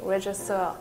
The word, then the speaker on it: Regisseur: We don't pronounce the G, we say regisseur.